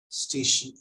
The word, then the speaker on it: station: Station. So remember, okay. They will be pronounced as station, S-H-U-N, not sun.